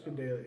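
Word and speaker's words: Gadelha: Gadelia. Is it Gadelia? Yeah, it's Gadelia. It's pronounced Gadelia.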